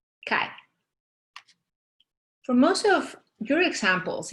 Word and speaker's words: chi: And we denote this formula by this Greek letter that is pronounced chi.